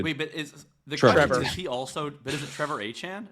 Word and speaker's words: Etienne: He was like, just so you guys know, my last name is pronounced Achane.